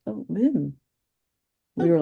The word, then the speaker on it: Wim: Wim Hof and which is Vim. It's not whim like Americans say the W. It's Vim.